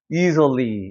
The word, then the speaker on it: easily: 여기 같은 것도 이즐리 아니에요. easily 이렇게 되는 거예요.